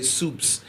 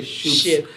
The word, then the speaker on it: Shoops: Yeah, I know people from some parts of the world, I would say soups, but it's spelled Shoops. I'm glad I can say Shoops.